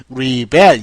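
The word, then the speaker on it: rebel: 읽기도 하고요 두 번째는 리벨 이렇게 읽습니다 여러분 리벨 뒤로 가면은 동사 레블 앞으로 오면은 명사입니다 그러면 레블이라고 읽으면 이거는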